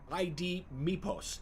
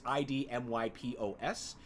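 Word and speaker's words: IDMYPOS: I even know ID MIPOS, as I would pronounce it, but it's ID MYPOS, and that doesn't actually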